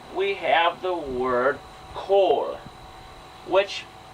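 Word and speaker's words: כָּל: But a kametz hatuf transforms to an O sound. That's how we get the Hebrew word kol. And most people, when they start learning Hebrew, they'll pronounce it kal.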